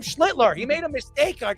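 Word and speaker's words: Schlittler: HE CALLED HIM SCHITLER. He didn't even call him Schlitler.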